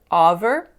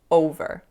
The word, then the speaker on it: over: So instead of making an O sound there, I made it an ah sound. So I said over, but it's pronounced over.